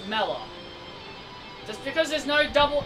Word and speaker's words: Mela: name is Mela I'm sorry the name is mellow we call him Mila you're incorrect it's mellow just because there's no Double L just because